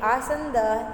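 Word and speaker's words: आसन्दः: यू कैन से आसंद in Sanskrit, okay? You will use आसंद फॉर the word chair in Sanskrit, okay? आसंद, ठीक है? आसंद, ये जो विसर्ग है उसका उच्चारण आपको गले से करना है, ओके?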